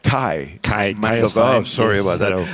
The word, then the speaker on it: Kai: Busy on the show floor, but we managed to grab Mangelberger. I hope I said that right. Kai Mangelberger.